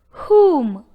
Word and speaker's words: whom: Whom. Whom. Whom. The word whom, though begins with the letter W, yet the W sound of W is unheard because of the sound H. Whom, but not whom.